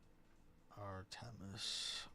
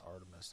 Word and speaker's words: Artemis: I think they should be our tennis. Someone on the news pronounce it like that. It's like, dude, it's Artemis. That's not Artmus.